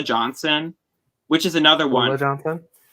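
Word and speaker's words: Ulla Johnson: Ula Johnson. That's how you pronounce it. It's Ula.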